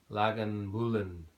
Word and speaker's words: Lagavulin: In 1816, local farmer and distiller John Johnston founded the first legal distillery here at Lagavulin, after the pronounced Lagavulin after the Gaelic Lagavulin, the hollow where the mill is.